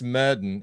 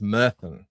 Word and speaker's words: Myrddin: And it isn't pronounced murden, even though it's spelled like that. It's pronounced mirth. The double D is apparently a sound.